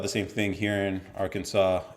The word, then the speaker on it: Arkansas: a lot of reading so look at this AR Kansas is Aransas AK a r k a an